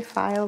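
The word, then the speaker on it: Pfeil: File, I hear people say file, but you normally pronounce that P, but only a little bit.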